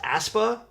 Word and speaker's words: Aespa: It's pronounced Aespa.